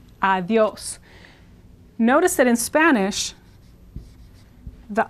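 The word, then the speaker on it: adiós: So this is like a TH, and the stress is here, adios.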